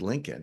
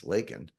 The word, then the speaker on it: Laken: He said Lincoln, it's Laken.